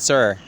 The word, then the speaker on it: sir: Like he said, you don't pronounce the R.